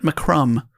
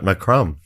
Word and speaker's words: McCrum: It does sound like my crumb. McCrum. Which I like. Yeah. Robert McCrum.